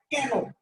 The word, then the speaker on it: কেন: একটু খেয়াল করেন ওয়ার্ড গুলো, দেখেন লিখছেন আপনি একার দিয়া, বাট আপনি কি একার উচ্চারণ করছেন না, আপনি উচ্চারণ করছেন কেন।